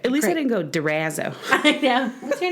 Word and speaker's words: DeRazzo: We have a celebrity among us today, and I've been told that I have to pronounce her name DeRazzo. Oh, I think I made it Italian.